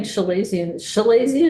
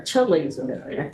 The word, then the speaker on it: chalazion: So we're having Chalazion or Chalazion? People pronounce it differently. Okay, Yeah. either one is. Either one is acceptable.